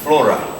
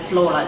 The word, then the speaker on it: Flora: I do as Flora Flora I like the way you're pronouncing my name yeah sometimes yeah people say Florida it's like oh it's not it's yes that's